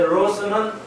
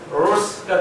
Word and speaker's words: 로스: 예, 로스는 R 발음입니다. L 발음이 아니고 로스 발음하기 어려운데요. 로스가 됩니다.